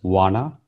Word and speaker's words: Juana: Juana or Juana, J is silent in Spanish. So she's called Juana.